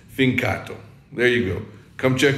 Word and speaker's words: Fincato: My Italian sucks, but it's Fincato.